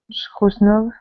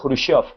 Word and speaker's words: Khrushchev: el líder soviético Nikita Khrushchev, Khrushchev, Khrushchev, Khrushchev le propuso a Nikita, su sí, se diría Nikita Khrushchev. Es ruso, yo tampoco Nikita, sé pronunciarlo muy bien, pero creo que es ah, así.